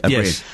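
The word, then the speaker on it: Ó Briain: Cox and dar I never know how to pronounce his surname aurien thank you aurien and um and we've done a story on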